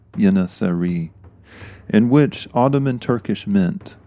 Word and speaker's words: Yeŋiçeri: The Turkish pronunciation for the fighters is in the title of these Patreon specials, Yeŋiçeri, in which Ottoman Turkish